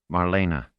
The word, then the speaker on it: Marlena: He pronounced it correctly. 3 syllables. Marlena, with a little trill to the R.